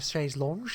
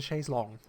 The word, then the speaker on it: chaise longue: It's not a chaise lounge, it's a chaise longue.